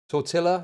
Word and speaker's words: tortilla: that Sorry, tortilla.